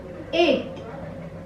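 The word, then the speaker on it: huit: 7, 8, 8. You know, H is not pronounced in French, so it will be 8.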